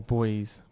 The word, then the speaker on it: buoys: He said there was yellow buoys. I've always said buoys. It's probably how the British pronounce it. I don't know. Boyd or boys. Boys is what we say.